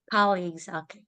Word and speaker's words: colleagues: Colleagues, okay. Colleagues, okay? Because for in the Philippines we say colleagues. They don't know that here. So colleagues, okay? It's like sound like college, Colleagues.